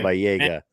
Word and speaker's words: Baba Yaga: He told us how to Baba Yaga. That's how you pronounce it. Yeah. Baba Yaga.